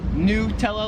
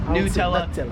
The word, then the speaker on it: Nutella: Americans like me, I would pronounce this Nutella. Like it's new Nutella. Here in Australia, they pronounce it Nutella. Like a nut.